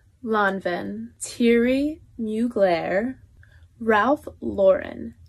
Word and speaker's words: Lauren: Givenchy Louie Vuitton Lanvin teary new glare Ralph Lauren not Lauren and last but not least even I was pronouncing this one wrong for a while it's